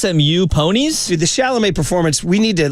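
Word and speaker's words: Chalamet: got his name wrong because the kid's name is Timothy sh shamal is it no his name is shalam well well be confused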